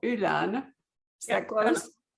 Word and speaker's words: Öland: And so the island in question, I'm going to wing it here, but Johanna can pronounce it better. It's called Öland. Is that close? Öland.